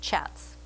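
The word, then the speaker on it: kyat: about 820 Myanmar chats that word is pronounced chats now there were a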